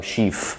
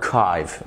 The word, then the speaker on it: archive: احيانا ال CH في الانجليش بتتنطق ك في كلمات زي chemistry اللي هو الكيمياء، وكلمات تانية زي archive اللي احنا بنقول عليها archief عندنا archive، مختلفة خالص.